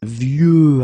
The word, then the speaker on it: vieux: Okay, of course you've got this X at the end, but you don't pronounce it. Okay, so it's vieux arbre.